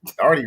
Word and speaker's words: Darty: Darty rhymes with farty.